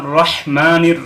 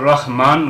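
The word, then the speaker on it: الرحيم: থাকে সেটা হলো আর রহমানির রাহিম হা গলার থেকে উচ্চারণ হবে রহমানের অর্থ হলো যে অতি দয়ালু যার তুলনা হয় না কিন্তু যদি এখানে পড়া হয় আর রহমান গোলহা মুখের শুরু থেকে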